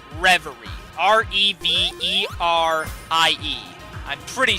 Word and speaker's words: Reverie: also want to do egg reverie I think that's how it's pronounced reverie re BER ie I'm